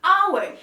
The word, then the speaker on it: hour: consonant letter h but when we pronounce we pronounce it with a vowel sound hour that's why we don't say a hour we